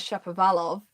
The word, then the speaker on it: Shapovalov: gonna pronounce it wrong I call him Dennis Shapovalov he told me is Dennis Shepard velov but you know if